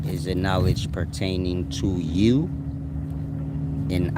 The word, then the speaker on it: YHWH: They both have to do with you as an individual, but you and I, this is a matter of YHWH, which is pronounced you.